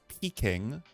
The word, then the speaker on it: Peking: are the same um it's pronounced Peking okay Peking duck okay it's the old name of Beijing got it okay traditional